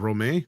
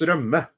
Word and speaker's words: rømme: fillet with potatoes and romaine. Did I say that right? And with co-op. Not too bad. Yeah, no, not too bad. It's pronounced rømme, but yeah. Rømme.